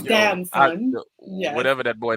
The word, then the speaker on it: Damson Idris: I didn't even know how to pronounce his name. It's Damson.